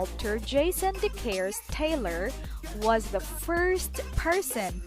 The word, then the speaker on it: deCaires: We pronounce it DeCaires Taylor.